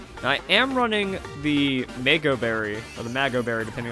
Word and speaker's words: Mago Berry: Now, I am running the Mago Berry, or the Mago Berry, depending on the pronunciation. It's a mango, so that got strong A sound, but Mago sounds better, it feels better.